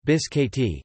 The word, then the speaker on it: biscotti: Biscotti, Italian pronunciation, biscotti, English, twice cooked, known also as cantucci, are Italian almond biscuits that originated in the city of Prato.